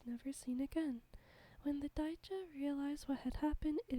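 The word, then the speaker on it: 大蛇: Japanese folklore contains many giant monster snakes called uwabami or daija. The latter can also be pronounced orochi.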